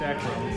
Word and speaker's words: Akron: It's Akron.